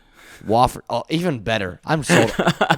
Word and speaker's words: Wofford: Or you know, that's not even how you pronounce it, right? How do you say it? Wofford.